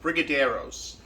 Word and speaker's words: Brigadeiros: And it was going to be, I believe it's pronounced Brigadeiros, which are a small Brazilian confection.